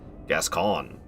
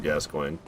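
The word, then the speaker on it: Gascoigne: By the way, not to be the funny grammar Nazi, but um actually P and Gascoin is supposed to be pronounced Gascon.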